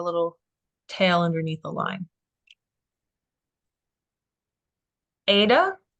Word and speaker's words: eta: tail underneath the line Ada is a long a sound capital letter is an